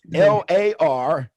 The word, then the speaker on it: Lariato: It's Lariato. Okay. Always it's kind of like the old cowboy movies is how I always try to think of Lariato.